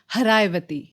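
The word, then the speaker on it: Haraxvaiti: हरायवती। जैसे मैंने आपको बताया कि पर्शियन में एस का प्रोनाउंसेशन कई जगहों पे एच होता है। तो सरस्वती बनती है हरायवती।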